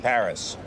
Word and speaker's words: Paris: Last tango in Paris. Last tango in Paris. Or more accurately, last tango in Pari.